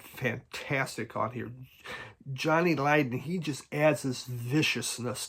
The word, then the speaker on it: Lydon: Then Johnny Lydon.